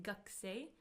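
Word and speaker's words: gakusei: I me as for me student we write gak but we say gakay is our so as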